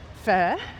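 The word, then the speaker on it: phở: The day before I had fur, which is a way that Vietnamese locals say pho, which of course they know.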